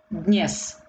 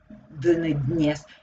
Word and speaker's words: dnes: Dnes. D sounds very lightly because it's also very difficult to pronounce. Dnes.